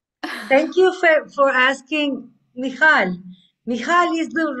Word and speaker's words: Michal: Michal is the right pronunciation.